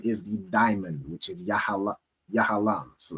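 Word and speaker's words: יהלום: And their stone is a diamond, which is pronounced in the Hebrew as Yahalam.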